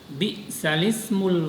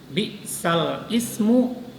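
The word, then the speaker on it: بئس الاسم: Bi'salismul fusuqu ba'dal iman. Jadi kalimat bi'sal ismu dipindah kepada huruf lam. Jadi bi'salismul fusuqu ba'dal iman. Nah, jadi membacanya bukan bi'sal ismu.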